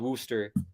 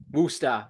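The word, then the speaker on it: Worcester: pronunciation Angus I just I know it's called Wooster woosta Wooster I do not touch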